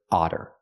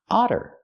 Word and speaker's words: otter: talk about this word Otter Otter we see the Double T making the fast D sound because they're between vowels we don't say otter we say otter this is an otter